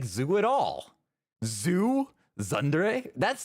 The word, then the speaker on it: tsundere: In Japanese, it is said as tsundere, tsundere. This is a term for a character development process. In English, it is usually pronounced as tsundere, tsundere from Japanese, tsundere.